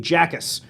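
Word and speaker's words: Jacas: here to find, let's see, Bleacher Report second-round pick is Illinois edge rusher Cabe Jackus, a 6'4", 260 I think pounds. it's pronounced Ackus. Ackus. Cabe. Yeah, the J is silent.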